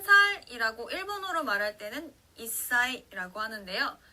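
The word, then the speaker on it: 一歳: 자, 단어로 살펴보면요, 한 살이라고 일본어로 말할 때는 이사이라고 하는데요. 자, 사행 앞에 즈가 왔기 때문에 사의 영향을 받아서 시옷 받침처럼 발음이 납니다.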